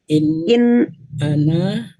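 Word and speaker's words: أنا: In ana. Nah, ananya pendek aja ya. Ana. In ana illa nadhirun wa ana. Ya, jangan ragu-ragu pendeknya.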